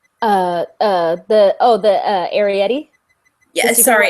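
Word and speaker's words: Arrietty: The Studio Ghibli movie Atari. The Arietti. Yeah, sorry, Arietti. See, yes. My pronunciation is crap.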